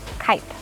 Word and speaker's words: Kep: It is from what you probably know as Kep, but I learned it's pronounced Kipe. Like kite in the sky, but with a P. Kipe is known to have